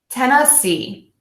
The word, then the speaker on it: Tennessee: have 10 ax C so 10 like the number ten ten ah see Tennessee Tennessee Tennessee Tennessee Tennessee